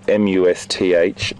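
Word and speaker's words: musth: None of them are in must, which is the sexual activity period where you'll see the secretion coming out of the gland behind the eye. And that's spelled M-U-S-T-H, must.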